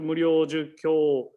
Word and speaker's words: Muryojukyo: So Bussetsu Muryojukyo, there's a lines above O, KYO. Then this means u, we pronounce u at the end, kyo.